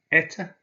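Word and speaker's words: это: Eta, this is. So the stress this time is on the E, so the O again is pronounced as an A, so eta.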